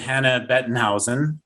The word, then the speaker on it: Hannah Bettenhausen: the show and today we are here with hannah bettenhausen now i know that's the german pronunciation what's the english pronunciation hannah same thing